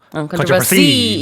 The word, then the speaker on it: controversy: Just don't put it on the last syllable. controversy No.